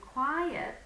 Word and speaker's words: quiet: because quite and quiet many students pronounce them the same but actually if we analyze the words we can figure out ah quite has one syllable and quiet has two syllables so even just from